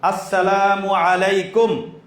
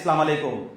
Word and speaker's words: আসসালামু আলাইকুম: এক নম্বর স্পষ্ট শুদ্ধ উচ্চারণে সালাম দিব। আসসালামু আলাইকুম। নাকি সালামু আলাইকুম?